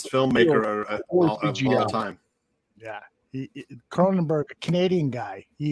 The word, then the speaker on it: Cronenberg: guy what's his name david kronberg is that how you say it david cronenberg cronenberg you're the guy that